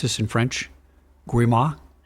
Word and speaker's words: grimoire: Do I pronounce this in French? Grimoire? Grimoire.